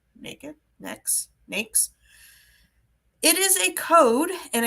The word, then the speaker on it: NAICS: the heck is an n a i CS pronounced n naked next NES it is a code and a classification within